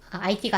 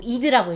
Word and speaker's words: ID: ID 인베이디드라는 ID가 아니죠. ID가 아니고 이드라고 읽어봅니다.